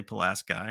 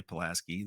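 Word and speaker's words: Pulaski: village called palasi um spelled palasi but the locals say palasi and if you say palasi they're going to know you're not local that's how that works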